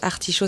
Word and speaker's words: Artishow: Artishow, ça s'écrit A-R-T-I-S-H-O-W, comme le show.